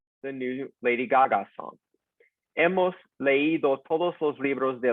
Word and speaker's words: hemos: Notice that we do not pronounce the H. Never pronounce the H in Spanish. It's just there for decoration. So, has, ha, hemos, habéis, han.